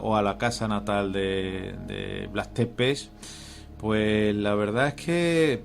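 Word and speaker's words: Vlad Țepeș: este sitio bueno pues vlad tepes es como más o menos lo pronuncian los los los rumanos fue un mante todo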